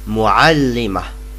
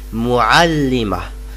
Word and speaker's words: muallima: on your screen, and it is pronounced muallima. I repeat, muallima. I repeat again, muallima. And notice that these ta marbuta are not pronounced.